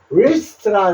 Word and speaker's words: wrist: wrist라 그러는데 요 wrist W가 묵음이고요.